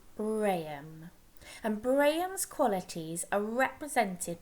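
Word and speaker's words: Brahman: god called braham okay it doesn't look like it's pronounced like that but it is brayum and brayan's qualities are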